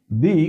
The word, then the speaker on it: the: যেমন ধরো দি এন্ড এক্ষেত্রে টি এইচ এর উচ্চারণ হবে কিন্তু দা নয় দি কারণ কি দিয়ে শুরু হয়েছে দেখো ভাওয়েল এ